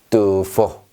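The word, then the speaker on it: tuffo: 자, 두 포. 얘는요, 다이빙입니다. 슝! 다이빙. 두 포. 이렇게 발음하시면 되겠어요.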